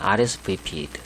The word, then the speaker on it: RSVP: RSVP 이렇게 발음하죠.